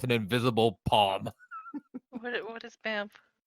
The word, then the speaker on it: Bamf: This can only mean it can't be pronounced. That, Bamf. Bamf? The name that the band seems to call itself is Bamf. B-A-M-F.